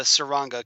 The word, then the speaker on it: Tsuranga: we're talking this just the Saranga conundrum the T is silent and this of course